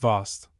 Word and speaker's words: vase: Vast would here be pronounced Vost, in the same way as the word vase is still sometimes pronounced Vos.